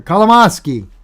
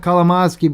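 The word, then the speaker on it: Kolomoisky: to keep up with there kalamoski not like colomoski but they're also talking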